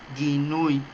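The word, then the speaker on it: guinuy: Para poder entender esto, tengo que entender qué significa ginui. La palabra condenar en el hebreo es ginui, que se escribe G-U-I-N-U-Y, ginui, así como se lee.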